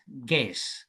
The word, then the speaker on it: guess: Is is a is a silent letter because when we pronounce this word, we say G S. Guess.